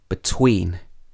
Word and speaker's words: between: And in two-syllable verbs and prepositions, you normally stress the second syllable. For example, relax, receive, between, among. So you wouldn't say relax, receive, between, and among.